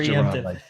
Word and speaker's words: Jerron: And yeah, it's pronounced Geron, like Geronimo.